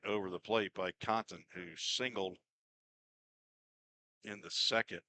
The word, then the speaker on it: Contant: Caden Contant. Or Contant. I think that's Zach Williams pronounces it.